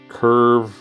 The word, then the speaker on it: Cuivre: To Quiver River State Park.